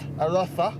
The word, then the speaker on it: Arosa: Here we are chugging along in our little 1-litre Seat Arosa, which is how they say it here.